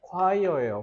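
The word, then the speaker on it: choir: 되니까 이것만 조심하시면 됩니다 이거는 콰이어예요 혹시 콜드플레이 좋아하는 사람 콜드플레이 좋아요 그거 비발라비다 거기에 화열 싱잉 이러잖아 꼭 아셔야 돼요 가사에요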